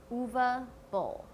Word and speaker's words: Uwe Boll: Not Uwe, not Uwe. It's Uwe Boll.